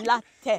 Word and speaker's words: Larteh: Larteh. Listen to him. Yeah, it's not Larteh. She thinks it's coffee because she likes coffee. She thinks it's a latte. It's not latte. Larteh. It's Larteh. Larteh.